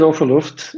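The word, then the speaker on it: Ofer Luft: so my name is offer luft and as jess already knows i like to say that you pronounce my name is all for crying out loud and i'm the platform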